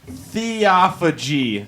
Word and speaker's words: Theophagy: We are here with Theophagy.